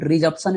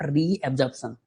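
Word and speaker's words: resorption: Bone रिजॉर्प्शन नॉट रिअजॉर्प्शन। मैं बार-बार बोल रहा हूं। मिस्टेक होता है। ऐसा लगता है गलत है। नहीं this spelling is correct. Bone रिजॉर्प्शन बोलते हैं इसको।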